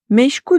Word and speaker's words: meşgul: I mean: Guys, our third word is: The word 'meşgul' is just like the word 'makul', the last vowel 'u' is pronounced softly although it doesn't use the hat.